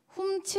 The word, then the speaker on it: 훔치: 훔치를 읽을 때 훔 하면 이렇게 입에 머금고 있게 되잖아요. 근데 치를 할 때는 그 치를 이렇게 내뱉게 되는 것입니다.